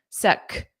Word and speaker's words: sec: What does sec mean? Notice that pronunciation. It ends on a hard k, sec, sec.